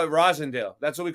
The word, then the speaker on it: Roslindale: yeah like rosin yeah yeah we call it Rosendale that's what we call it yeah but but the people from out of town are like rosalindale they pronounce it with the L name and